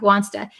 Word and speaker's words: wants to: speaker we understand that the S is there right so we don't say Wana we're going to say say w w so it's basically want plus the two and the only thing that changes is the H the a at the end it sounds like an a at least wants to wants to he wants to he wants to study